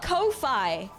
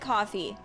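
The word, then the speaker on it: Ko-fi: ] do you guys pronounce it coffee I pronounce it Kofi I've been pronouncing it Kofi since I saw it I didn't even know it was supposed to be pronounced it coffee I cuz it's like oh go buy me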